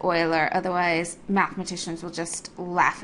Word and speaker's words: Euler: Leonardo I learn and make sure that you pronounce it oiler otherwise mathematicians will just